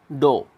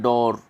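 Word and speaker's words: door: रे को कभी कभी स्पेशल परिस्थितियों में प्रोनाउंस किया जाता है, बाकी प्रोनाउंस नहीं किया जाता है दोस्तों रे को। ब्रिटिश इंग्लिश में, अमेरिकन में प्रोनाउंस करते हैं वे लोग, वे पूरा बोलते हैं डोर, डोर, लेकिन ब्रिटिश कैसे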